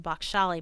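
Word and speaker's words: Bakhshali: BC and 300 ad the bakal manuscript I'm sorry that's how it's pronounced the Bak shali manuscript is the oldest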